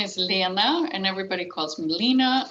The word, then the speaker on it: Lena: It's Lena, Lena, and, and even Swedes.